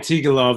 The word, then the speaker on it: Antigulov: And Antigulov is how you pronounce it too.